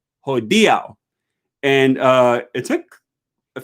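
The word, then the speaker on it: hodiaŭ: i can recall like i used to say ho diao for today um the word today in esperanto um and it's not ho dia ho diao i don't remember what i would say but at least three or four times rafa commented on my videos he says it's not ho dio it's ho diau and uh it took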